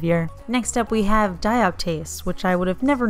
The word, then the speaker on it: dioptase: Next up we have DIOPTASE, which I would have never known how to pronounce if I didn't Google it, but I did, and that is how you say it apparently.